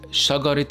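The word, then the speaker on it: شجرة: Now notice how in this example teh marbouta was pronounced as teh, because we didn't just stop at the word shagara, but we continued to pronounce another word after it. So it is pronounced as shagaret ilmuz with the teh sound.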